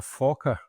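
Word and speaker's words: Fokker: A fawker.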